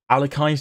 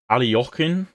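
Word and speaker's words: Alekhine: rate it unbreakable next up we have the alakin defense or alokin you're supposed to pronounce it it's it's okay it's okay um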